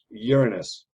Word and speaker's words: Uranus: it so please realize it's not a part of the body it's a planet and we're going to call it uranus all right then it